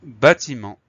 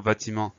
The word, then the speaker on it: bâtiment: et ensuite le reste ça s'écrit comme ça s'entend t I m e n t on a la lettre finale muette t qu'on n'oublie pas là